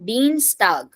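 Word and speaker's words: Dienstag: E is there so I E will become e pronunciation so Dean tag yeah Dean tag Wednesday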